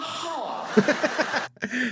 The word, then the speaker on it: half: how half in and half has has an L in it half half a half